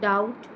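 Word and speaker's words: doubt: विश्वास ठेव ठेवणे trust to टड टड टिंग संशय घेणे या ठिकाणी बी सायलेंट आहे टू टच्या स्पेलिंग मध्ये ट वाचायच नाही त्याला ट वाचायचं बी ला आपल्याला चारही रूपांमध्ये सायलेंट करायच संशय घेणे टू मेक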